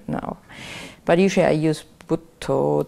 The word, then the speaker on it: Buddho: But usually I use Buddho, Dhammo, Sangho, the Buddha, the Dhamma, and the Sangha. Which is how they say it in Thai. Buddho, name of the Buddha, Dhammo, name of the